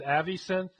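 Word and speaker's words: AviSynth: I guess you're supposed to pronounce it ays synth but that seems weird to me because the name comes from the extension Avi which is just an acronym so that would be kind of like if you call the CIA CA or the IRS Ur anyway Avi synth is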